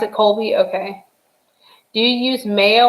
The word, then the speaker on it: Colby: good colby jack cheese do you think colby or kobe i pronounce it colby c-o-l-b-y colby jack cheese oh